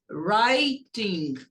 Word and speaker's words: writing: E não pronuncia o W. Começa a pronunciar do R. Writing, escrevendo.